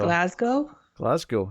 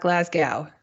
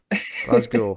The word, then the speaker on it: Glasgow: Which, credit to Rod Serling, he said it multiple times, and he pronounced it correctly every time. So Glasgow, yes. Not Glasgow. Not Glasgow. No. Glasgow.